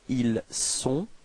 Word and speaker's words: ils sont: So actually this first sound, I mean this S is the only way to dissociate être from avoir for il and elle. Okay, so don't be afraid to pronounce this S quite strongly.